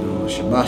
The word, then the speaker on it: Shabbat: All right, last character is a tha, but you pronounce it as ath.